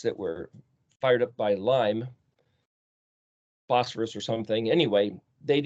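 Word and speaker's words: לי: Well, this is the word Li. You could pronounce it, I suppose, Laya, but generally it's L-Y or L-I, so Li.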